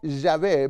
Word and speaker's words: Yahvé: En primer lugar, debe tener el nombre, y vemos que la ley de Dios dice que el nombre es Jehová, o Yahvé, mejor pronunciado, el Eterno.